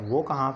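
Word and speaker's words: walk: उसके बाद अगले लेटर को देखते हैं वो कहाँ पे साइलेंट होता है, उसके एग्जांपल्स कौन सी हैं। उसके बाद डी, एफ, के या एम से पहले एल साइलेंट होता है।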